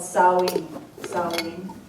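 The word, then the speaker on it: Samhain: in in Celtic celebrations it's spelled s a m h a i n but it's called sa sin that's how you say it s ancient Gaelic word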